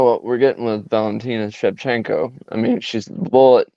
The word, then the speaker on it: Shevchenko: I'm gonna set my phone down and listen to you pronounce this one, and then Valentina Shevchenko versus Alexa Grasso.